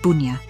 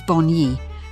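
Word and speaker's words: bonyi: pine araria bid willly has been wrongly accepted and pronounced bua to the blacks it was Boni the I being sounded as an e in English Boni grandfather Andrew Petri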